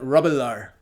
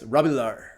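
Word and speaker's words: Robilar: dice sir rubular and it's pronounced like that rebelar even though it's written robillard's rabilar cerebellar is perhaps one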